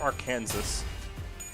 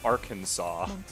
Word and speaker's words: Arkansas: It's not our Kansas. Contrary to popular belief, it's Kansas and Arkansas.